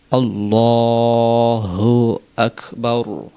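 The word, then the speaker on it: الله أكبر: আলিফ টান হাফে সহ আল্লাহু আক হামজা কাফ জবর আক আক বারা জবর বার রাটাকে মোটা করতে হবে এভাবে আল্লাহু আকবার আল্লাহু আকবার আল্লাহু আকবার সেমভাবে বলতে হবে এভাবে আল্লাহ আল্লাহু আকবার।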